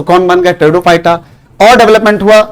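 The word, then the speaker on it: Pteridophyta: पहला है थैलोफाइटा, दूसरा है ब्रायोफाइटा और तीसरा है टेरिडोफाइटा। यहां पर पी बच्चों साइलेंट रहेगा।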